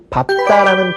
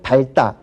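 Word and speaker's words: 밟다: 그러나 밥다라는 동사만큼은 예외적으로 뒤에 오는 비읍으로 발음합니다.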